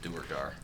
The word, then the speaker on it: Duergar: I still say it's pronounced Duergar. Duergar. Duergar. That's how we always said it when we were.